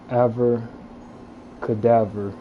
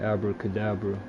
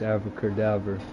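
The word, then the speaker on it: Avada Kedavra: think it's called abracadabra well it's actually pronounced ever cadaver which it instantly kills them it's the spell that I've been using to kill everything but it sounds like abracadabra but it's Alpha cadaver I shall keep it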